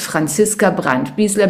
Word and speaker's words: Franziska Brandt-Biesler: I'm Franziska Brandt-Biesler. I don't know why I have to pronounce my name in English. Actually, it's Franziska Brandt-Biesler because I'm German.